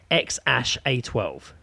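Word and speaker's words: X Æ A-12: is just an x AE is elvish for AI which is pronounced ash and 8:12 so the name is pronounced ex ash a 12 that a 12 according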